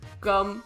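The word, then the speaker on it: Geum: on ya but uh the way to pronounce it is gum like bubble gum if if you're curious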